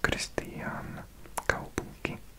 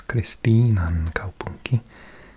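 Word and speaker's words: Kristiinankaupunki: It's not Christian, it's Christinan Kaupunki, Christianstad. Only two chances to get it right there, two different languages.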